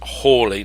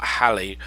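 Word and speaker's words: Halley: Johnson the the the dark the diarrhea he also knew Hawley and he they all seemed to pronounce it as horley not Halle and certainly it's nothing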